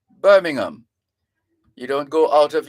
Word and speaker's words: Birmingham: as a teachable moment those names are words that end with h-a-m you don't pronounce the h so you don't go